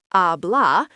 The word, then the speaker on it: habla: Habla pronounced ablah means he speaks, she speaks or you speak formally.